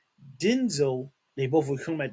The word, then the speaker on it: Denzel: So all these years, who knew until recently that his name is actually Denzel, pronounced Denzel, not Denzel.